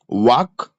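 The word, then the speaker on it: walk: रन रन रन वाक वाक्ड। यह देखो L silent होता है। इसमें एल साइलेंट है। ठीक है? L silent.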